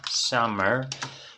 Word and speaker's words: summer: So we have summer, escritura con U, pronunciación con A.